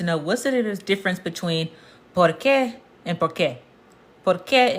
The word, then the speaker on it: por qué: So, it's pronounced por qué. Por qué? Anytime you see an accent over a letter, that means you put more emphasis on it.